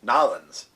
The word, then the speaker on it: New Orleans: he is a permanent deacon in the Archdiocese of New Orleans, also pronounced Nolans.